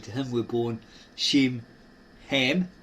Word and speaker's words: Ham: him were born sheim ham. This is silent as in the Egyptian. It's not cam. It's not kim. It's ham or him and japith or yith.